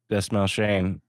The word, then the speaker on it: Dastmalchian: Dastmalchian is how I believe it's pronounced.